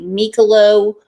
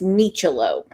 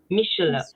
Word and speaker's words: Micciolo: I need to apologize to Rebecca cuz I say her last name wrong all the time. I say Micciolo, but it's Micciolo. Micciolo.